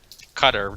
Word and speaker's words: Qatar: they want to run Qatar they probably had some sponsorship and whatnot that's actually how it's pronounced it's pronounced Qatar so yeah well we